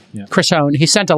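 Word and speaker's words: Hohn: well Chris hone I believe is how you pronounce his name chrisone he sent a letter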